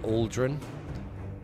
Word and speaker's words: Aldrun: I've always said Aldrun, and they say Aldrin, which makes sense.